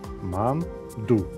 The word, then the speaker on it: манду: И только корейцы говорят так, как им нравится. Ман-ду. В двух слогах. Здесь нет ударения на каком-то одном слоге. Ударение на обоих слогах.